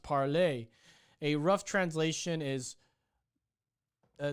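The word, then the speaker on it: Parler: is not pronounced like parlor by the way it's french so it's pronounced parley a rough translation is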